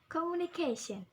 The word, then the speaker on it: communication: Communication, the stress at the K.